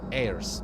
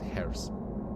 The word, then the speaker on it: heirs: Since you are a hero who fought alongside the Chrysos heirs, that's what you said, not hairs. The H is silent.